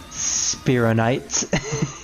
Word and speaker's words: Spironites: wish you swell night spironites good one good one yeah it's supposed to rhyme with night well that's a good